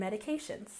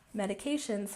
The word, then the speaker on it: medications: And medications has the primary stress on the third syllable.